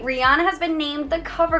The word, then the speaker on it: Rihanna: Rihanna is how we pronounce it. But her real name is Rihanna. Rihanna. Not Rihanna.